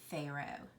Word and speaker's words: Pharaoh: it written right here if you're going to try to pronounce this word you might pronounce it something like this huh arrow haha arrow right because look at that pH your your natural tendency is just to want to sound the P and the H we haven't learned that